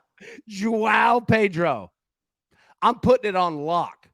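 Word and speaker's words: João Pedro: How do you pronounce the first name? Joao Pedro.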